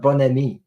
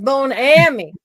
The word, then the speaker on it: Bon Ami: They still have bon ami. That's how it's spelled. Okay, Yeah, Comet. got it. It's a different manufacturer. Yeah. Bone but Well, us Americans, we always have to say things funny. So it probably was Bone Ammy somewhere.